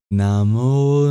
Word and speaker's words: Namo: And when it's before a voiced sound, it turns into the labioguttural vowel O. Namo Namah.